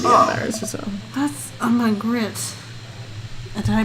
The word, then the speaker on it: Magritte: That's a Magritte. Did I pronounce that right? Magritte.